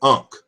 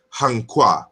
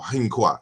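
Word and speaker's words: ankh: In Egyptian, we pronounce it as unk, or you know, but it should be hankwa or hinkwa.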